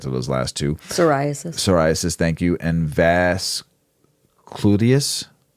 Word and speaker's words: psoriasis: until I got to those last two psoriasis psoriasis thank you and vas clus vas vasus vas glus I think it's pronounced v c u l i t i